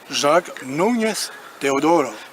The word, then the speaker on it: Jacques Núñez Teodoro: suit partout son maître, Jacques Núñez Teodoro, je prononce bien? Tout à fait, enfin à la française, mais Voilà, alors, vous êtes pardonné. Avec l'accent, ça donne quoi? Jacques Núñez Teodoro.